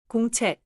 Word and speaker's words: 공책: The ending check has a clear final sound but do not add an extra vowel after it. 공책.